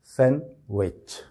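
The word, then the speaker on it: sandwich: वही सिलसिला है कि डी पर बिल्कुल स्ट्रेस नहीं करेंगे जब आप इसको प्रोनाउंस करेंगे या इसको बोलेंगे तो तो यह लफ्ज सही किस तरह से बोला जाएगा सैन विच सैंडविच सैंड डी की आवाज अलग से बिल्कुल नहीं आनी चाहिए और य सैंडविच जो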